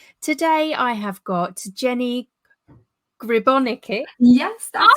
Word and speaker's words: Gribonika: Today I have got Jenny Gribonika.